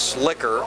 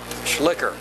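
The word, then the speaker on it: Schlicher: that's really what's possible I believe the pronunciation is slicker s-c-h-l-i-c-h-e-r-jed schlicker the all carrier picks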